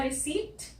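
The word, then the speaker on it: receipt: तो EI के हमने दो एग्जाम्पल्स देखे थे, वर्ड्स जिनमें EI आता है वो था प्रोटीन और रिसीट, यहाँ पे ये P साइलेंट होता है।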